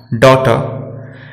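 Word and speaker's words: daughter: जब जी एच एक साथ वॉवेल के बाद आता है तो जी एच दोनों एक साथ साइलेंट रहते हैं, जैसे थॉट, फाइट, डॉटर। और एक बात और हमें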